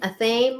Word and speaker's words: athame: An obsidian, a thame, or is that how that's pronounced?